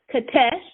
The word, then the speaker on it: Qetesh: They serve the goddess Katesh. It's spelled Qetesh, and that was a Semitic nature goddess.